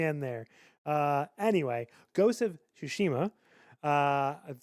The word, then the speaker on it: Tsushima: Anyway, Ghost of Tsushima.